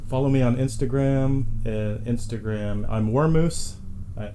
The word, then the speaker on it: Wurmoose: definitely spell it because it's not like it sounds. It's Right. WURMOOSE. Wormoose.